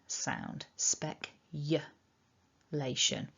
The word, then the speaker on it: speculation: i've heard many people pronouncing this word speculation but it's a uh spec lation so that's my top tip for this video is to remember the sound then we've got our strong lay lay syllable okay then we've got our shun ending this can be quite